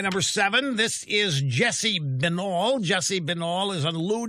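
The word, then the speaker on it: Binnall: seven this is jesse benall jesse benall is on lou dobbs tonight last night he is um or it's vital i'm sorry i got a pronouncer here looks like vinyl he is uh trump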